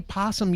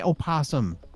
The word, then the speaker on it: opossum: though you say it you say possum you don't say Oh possum sorry you've been saying